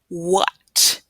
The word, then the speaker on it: what: Next, we have the word what. So, again, It doesn't sound like there should be an H in there, right? But we need that WH to make that W sound.